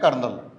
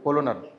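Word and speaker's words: colonel: एल ओ एनई एल कनल इसे बोलते हैं कर्नल ठीक है क्या स्पेलिंग होती है सीओ एल ओ एन ए कर्नल कर्नल साहब होते आर्मी में बोलते कर्नल सीओ एल ओ एन ए कोलोनल एक लेफ्ट भी होता लेफ्टनंट स्पेलिंग हो एल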